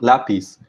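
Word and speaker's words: lápiz: second word lapis uh lapis ends in z in spanish so it's a consonant that is not n or is s and this stress should should fall on the last syllable so in this case we have a uh an irregular case of uh stressing the a different syllable in the word so that's why we add a stress mark it is just to show the irregularity uh in this in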